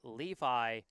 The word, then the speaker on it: Levi: first name is pronounced Levi like uh like the jeans. I'd been pronouncing it lovey uh Levy.